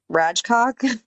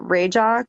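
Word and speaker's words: Rajcok: It's kind of Ratchcock, but they pronounce it Yeah, they pronounce it rajock or RJ.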